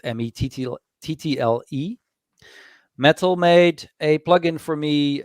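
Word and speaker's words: Mettle: and a couple of other things and metal it's spelled m-e-t-t-l-e metal made a plug-in for me um called squirkles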